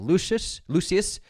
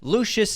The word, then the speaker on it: Lucius: I think they chose the right path of going with Lucius, rather than trying to get Maximus back, which